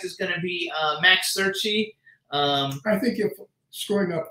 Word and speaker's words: Cerchi: C-E-R-C-H-I. Cerchi. Okay, well, I don't speak Italian, so for me it's Cerchi.